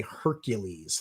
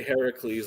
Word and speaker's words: Heracles: Do you say Heracles like a good Greek nerd, or do you say Hercules like an American? Say Heracles like a good Greek nerd, and I spell it Herakles in the with books.